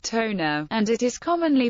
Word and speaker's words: Tonga: of central Polynesia in tongen the name is pronounced Tona and it is commonly pronounced as t or